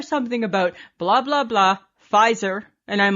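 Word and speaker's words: Pfizer: about blah blah blah fizer and I'm like hey and then I see it and I'm like spelled with a p sounds like an F hey dear Samantha do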